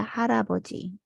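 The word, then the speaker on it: 할아버지: p paisa-isang syllable siya hal a bo pero dahil yung real sinusundan ng ng vowel nagiging R yung pronunciation niya kaya haraboji next halmoni harmoni ibig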